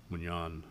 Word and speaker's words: Munyon: minutes anywhere, entertain a motion to appoint Mignon as, that's a proper pronunciation of your last name, correct?